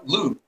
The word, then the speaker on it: Loupe: It's Loop. It's spelled like Coupe de Ville, just with an L.